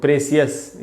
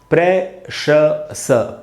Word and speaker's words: precious: इसको अपने आप पढ़ लेते लोग, प्रेसियस या प्रेशियस, या नहीं तो कुछ भी पढ़ सकते हैं। तो इसका लेकिन शुद्ध उच्चारण क्या है? इसका शुद्ध उच्चारण है दोस्तों प्रेशस।